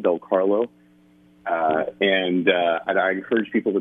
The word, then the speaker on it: Del Carlo: It's 2 T's, and then it's phonetically spelled Del Carlo.